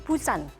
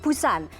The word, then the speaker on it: Busan: Untuk pelafalannya, Anda bisa menyebutnya agak samar-samar, tipis-tipis seperti Busan. Jadi antara P dengan B, jadi kesannya atau terdengarnya seperti Busan.